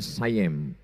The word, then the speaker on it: Siam: Dan ketika Kedah, Kedah sekarang itu Malaysia dijajah oleh Siam, tulisannya Siam. Orang Barat membacanya sayem.